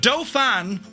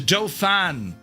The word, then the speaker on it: Dauphin: So, you have a doe fan or you have a dolphin? It's a doofan.